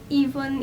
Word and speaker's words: Evlynn: Yes, I'm pronouncing it Evlynn, even though that's not the majority of how people pronounce it. It's Eve and Flynn together, therefore Evlynn.